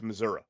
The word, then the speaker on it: Missouri: You can always tell someone from Missouri because they they don't pronounce the I. It's Missouri.